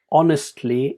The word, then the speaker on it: honestly: incorrectly are pronounced so the word honestly is without an H sound but you might put